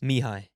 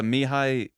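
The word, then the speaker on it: Mihály: very difficult is it me how do you pronounce the first name because that'll help me out with the last mihai mihai yeah the hill oh okay so the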